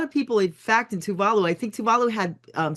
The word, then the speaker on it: Tuvalu: because of the right what how do you say it? Touvalu. Touvalu. Okay. But because it's so lowlying and